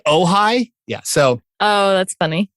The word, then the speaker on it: Ojai: And people from back east called OJ. Wow. Like, I heard OJ was really, really cool. I'm like, you mean you going on a tour of Brentwood and the OJ compound? I'm like, no, OJ. I'm like, do you mean Ojai?